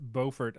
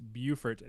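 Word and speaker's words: Beaufort: It's pronounced Boffort up here. It's Bufort down there.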